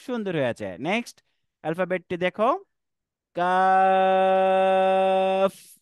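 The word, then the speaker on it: ق: হয়েছে নেক্সট আলফাবেটটি দেখো calf calf এটা তিন সময় টান হবে কাফ কাফ লাস্টে এফ এর উচ্চারণ ফশ আরেকবার বল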